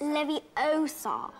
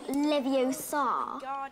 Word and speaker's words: Leviosa: someone's eye out besides you're saying it wrong it's leviosa not leviosa you do it if